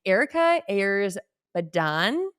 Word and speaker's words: Erika Ayers Badan: We have on Erika Ayers Badan. Did I pronounce that Yep, name?